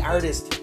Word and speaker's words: artiste: hi everyone starving artist here again uh e is silent and artist and uh I just